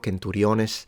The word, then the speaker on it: centuriones: C pronounced like a K in centurio, centuriones. They still have that C sound instead of a Ch, which evolves into both Italian, but also, of course, ecclesiastical Latin, centurio, centuriones.